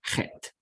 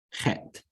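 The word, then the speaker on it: חית: Next, you have Het. Het. Okay, now it is pronounced with a guttural sound that you can make in the back of your throat, very much like the more proper pronunciation of the German Bach.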